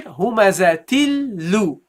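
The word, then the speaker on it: هُمَزَةٍ لُّ: Okay, now the second lam has not a kasra. The second lam has a dhamma here in this case. So you go here, humazatil lu. Okay, humazatil lu. That's how you pronounce it.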